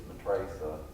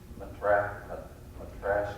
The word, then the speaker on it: Matrasa: The other one that people often don't know in the book is Matrasa. Lots of times people call her Matrasha, or I don't know how to say it, but lots of ways.